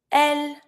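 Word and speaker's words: elles: want to say I say you he she L we we say new don't pronounce the S you V don't pronounce the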